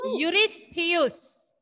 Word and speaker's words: Eurystheus: How do you pronounce the name? It is King Eurystheus.